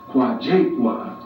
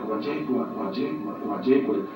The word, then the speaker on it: Nkwajakhua: And so phonetically I spelled it out as K-W-A, Kwa, and then Jakhua I put down as J-A-K-H-U-A, Jakhua.